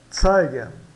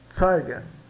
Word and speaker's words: zeigen: de um modo geral o z é pronunciado como TS né Eh d t Té tá por exemplo aqui nós temos o exemplo zeig Zen né zeigen zeigen zeigen tá e o